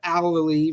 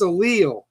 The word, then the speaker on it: Allele: Always said Allely my whole life listening to the band, so I had a feeling it might be pronounced wrong with the way I said it. No, but it's a Leil.